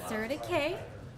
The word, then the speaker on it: CertiK: So now we know that it's CertiK.